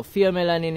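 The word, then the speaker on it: pheomelanin: have Fe melanin now fom melanin is a fom melanin F it's spelled with ph F fom melanin or F melanin it's a reddish a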